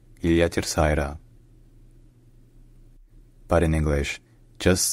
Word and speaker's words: Ilha Terceira: So locally, in Portuguese, the island is called Ilha Terceira. Ilha Terceira.